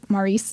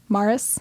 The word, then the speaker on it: Morris: on barbiturates, just like Maurice did. Yep. Morris. I said his name wrong again.